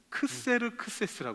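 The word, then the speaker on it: Xerxes: 서스 근데 이제이 단어는 원래는 그리스어 그리스어로는 크세르크세스 합니다 크세르크세스 이렇게 부르는데이 왕의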